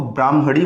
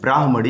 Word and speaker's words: ब्राह्मणी: कई लोग गलती करते हैं, इसको ब्राह्मणी बोलते हैं, पहले ह आता है ब्राह्मणी, यही उसका सही उच्चारण और लिखावट भी सही यही है, ब्राह्मणी नदी।